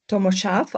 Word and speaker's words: Tomo Šarf: Yeah, good evening everybody and welcome to this interview with the president of the World Mountain Running Association, Tommo Sharf. I hope that's the right pronunciation of your name.